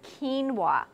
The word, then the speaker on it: quinoa: know how to say it but how you pronounce this is quinoa this is a super grain now a lot